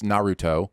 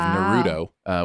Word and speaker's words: Naruto: And as the narrator, I spent, I'm going to say, an hour trying to teach myself to pronounce Naruto instead of Naruto, which a lot of people say.